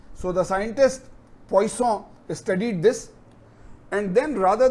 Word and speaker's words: Poisson: see the name here poisson right the n is poison so this is a french origin name so the scientist poisson studied this and then